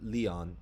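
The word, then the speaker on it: Lyon: you guys are from leon france right is that how you pronounce it right yeah yeah so uh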